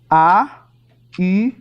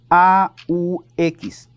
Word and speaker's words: aux: A-U-X. A-U-X. Suena igual que en masculino singular, pero se escribe con una X para saber que está en plural.